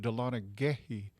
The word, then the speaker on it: Dahlonega: oh yeah yeah yeah dahlonega was the cherokee word for for gold okay and they pronounced it delana gehey and really us white dudes came in and changed it to dahlonega all right so they